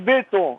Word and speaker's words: Botton: Mais on prononce béton.